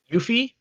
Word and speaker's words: Yuffie: How do you pronounce her name? Yuffie.